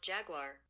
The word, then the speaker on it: Jaguar: That's pronounced Jaguar. Jaguar. Jaguar. Thank you. G W A R. Like that band.